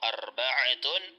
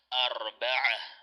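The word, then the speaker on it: أربعة: Dito, arba'atun. Kapag hindi natin bibigkasin ang patinig sa dulo ng ta'ul marbuta, arba'ah. Naam, magiging ha ang kanyang tunog sa dulo.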